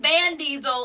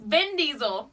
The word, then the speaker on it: Vin Diesel: my skin crawl it's not van diesel it's been diesel I smell van diesel